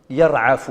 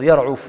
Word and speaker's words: يرعف: يزمس في بعض النسخ يرعف بفتح العين صحيحة وهي الأصح أما كنت تلفظ يرعف بضم العين أيضا صحيحة أثناء يرعف فيخرج منه